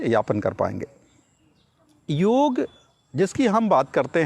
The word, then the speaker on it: योग: लिए एक लाइन में, जब भी आपको योग बोलना है तो आपको योग ही कहने हैं, बट अगर इंग्लिश में लिखते हैं तो आपको पूरा प्रोनाउंसिएशन को नहीं बिगाड़ने हैं, वही वो जी ये ही लिखना चाहिए। जब आप उसको प्रोनाउंसिएशन के लिए जाएंगे, पढ़ेंगे, तब आप उसे योग ही कहेंगे। तो जितने भी हमारे योग के आचार्य हैं, योग के फॉलोअर हैं, वो कभी भी योगा नहीं बोलेंगे, भले ही वो इंग्लिश